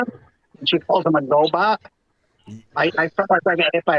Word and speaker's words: Gobot: I'm that's the title Gobot with a hard G there's nothing you're gonna